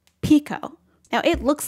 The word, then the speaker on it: Pekoe: not a bad transliteration so it's like pe ho but he heard pico and that's the name